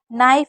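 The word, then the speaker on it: knife: अगर जी के बाद होता है तो नाइफ में भी हम के को नहीं पढ़ रहे हैं। नी में भी नहीं पढ़ रहे हैं। नॉक में, नॉट में, निट में, नाइट में, नील में और नेप नैपक में भी हम के को नहीं पढ़ रहे हैं। तो जब भी के एन साथ में होगा तो के को नहीं पढ़ा जाएगा।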